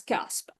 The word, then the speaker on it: C4SP: smart public value governance abbreviated to c4p but pronounced as Casp and every year since